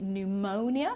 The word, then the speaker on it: pneumonia: the p at all and here we say pneumonia so we don't pronounce the p and pneumatics right so try